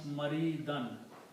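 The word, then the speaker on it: مريضا: So when noun comes after the verb, then these two dhammas change into two fathas. And whenever we write two fathas, we write an extra alif with that. So this word becomes maridan.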